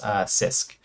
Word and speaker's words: CISC: what's known as a sisk architecture so it's pronounced sisk which stands for complex instruction set computer here okay so basically